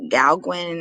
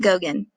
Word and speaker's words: Gauguin: name is right here i know it looks like gal gwen or something else i think it's pronounced gogen so we will i'm